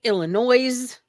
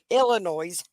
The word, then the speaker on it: Illinois: for the people that don't know how to say it, Illinois. Yeah, Illinois.